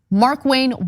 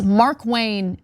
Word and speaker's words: Markwayne: So let's get to some details about what Markwayne Mullin, which is not a fun name to pronounce. I got to like, it's Mark Wayne as one name.